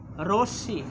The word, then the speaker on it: রশ্মি: আমরা এটাকে অনেক ক্ষেত্রে রশ্মি বলি, আসলে আমরা জানি ময়ের উচ্চারণ হয় না, তাহলে কি হবে স্যার, রশ্মি।